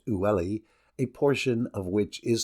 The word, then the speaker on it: Uli: Seda is supplied with water from the river Uli, pronounced Ulli, a portion of which